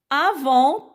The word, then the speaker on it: avant: Avant, t'es muet.